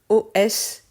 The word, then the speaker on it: os: me viennent à l'esprit on a le mot O S qui a la particularité de se prononcer différemment suivant si on parle au singulier ou au pluriel on dit un os mais des EOS on fait la liaison